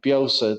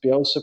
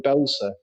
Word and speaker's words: Bielsa: He couldn't pronounce Bielsa properly, and he called him Belsa.